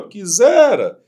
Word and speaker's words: quisera: A palavra quisera, ela tem sílaba tônica no zé.